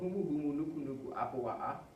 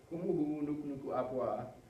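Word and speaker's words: humuhumunukunukuāpuaʻa: This little apostrophe here, this little apostrophe is like a brick.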